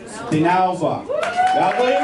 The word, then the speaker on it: DINALVA: I'm going to pronounce it wrong. DINALVA.